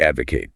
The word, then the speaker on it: advocate: Next up, to advocate. To advocate. Advocate. Stress on the first syllable.